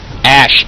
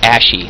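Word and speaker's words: Ashe: The longest time, My buddies hated me for saying it. I called Ash Ashy. And I just drove them up the wall. I don't know why. Oh wait, I know why. Because I mispronounced her freaking name.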